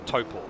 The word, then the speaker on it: Taupo: Yeah, a lot of people are looking at thinking it's Tau, because T-A-U sort of has an ow sound, but no, far from it.